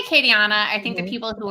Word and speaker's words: Acadiana: and the chat book acadia i could wait akka diana which i should have practiced in advance and probably just mispronounced she lives in collingswood new jersey and